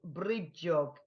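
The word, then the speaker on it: brídeóg: One way to bring the magic of Brigid into your homes at Imbolc is to make a bridiog, pronounced bridjog.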